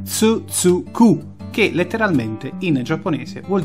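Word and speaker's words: つづく: Quelli sono caratteri sillabici, gli hiragana, attenzione, non kanji, hiragana, che si pronunciano grosso modo con tsu tsu ku, che letteralmente in giapponese vuol dire continua.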